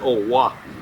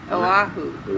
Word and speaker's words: Oahu: They pronounce it Oahu. Oahu. Oahu. Yeah. And it's Hawaii. Hawaii. They pronounce every vowel.